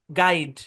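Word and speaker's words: guide: জি এর পরে ইউ, তারপর ভাওয়াল থাকলে ইউটা সাইলেন্ট। মানে জি ইউ তারপরে যদি ভাওয়াল থাকে, যেমন এটা গেস, তারপর হচ্ছে গেস্ট, তারপর গার্ড, গাইড।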